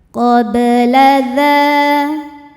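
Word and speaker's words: قَبْلَ: Kanu qabla. Qad. Huruf ba sukun dihukumi qalqalah sughra sebab ba sukun sukunnya sukun asli dan ada di tengah bacaan. Cara membacanya huruf ba ini dipantulkan dengan pantulan yang kecil. Qabla dha hukumnya mad tabi'i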